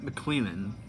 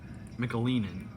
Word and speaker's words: McAleenan: It's Kevin McLennan. McAleenan is how you pronounce his last name.